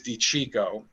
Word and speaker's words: DiCicco: So my last name is DiCicco. Yeah. And it's not spelled CH, it's spelled CI. We're Italian, we're not Spanish.